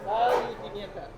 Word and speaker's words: Sal y Pimienta: How you pronounce this place? Sal y Pimienta.